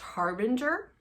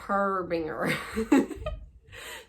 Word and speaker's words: Harbinger: Vader who informed me is pronounced harbinger not her Binger so Harbinger is the